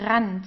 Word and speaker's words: Rand: So here, whenever you have an R and then you have a vowel right after that, you pronounce it from the throat. So here it's der Rand. So you feel it here vibrating.